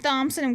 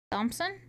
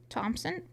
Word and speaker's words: Thompson: Um, pronouncing Thommpson with the th instead of Thompson is just a height of pretention. Thompson. Thompson.